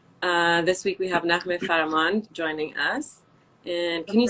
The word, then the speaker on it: Farahmand: I don't think it's going to be better than you, but Naghmeh Farahmand, yeah. Farahmand, so you pronounce the H. Farahmand.